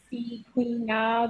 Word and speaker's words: Sequena: It's like Sequina. That's how you pretty much pronounce it. I always tell people it's like Sabrina with a Q, so it's easier to pronounce for people.